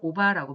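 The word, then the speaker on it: 伯母: 일본어로 마찬가지로 오바라고 발음을 하고요.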